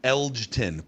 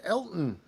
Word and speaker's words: Elgton: I thought it said just Elton. Elgton. There's a There's a rogue G in there. It's not Elton.